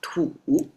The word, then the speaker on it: 土: This one is about a soil pronounced as to and you can see now I add traditional to exactly the same because that's the core concept cannot be further simplified.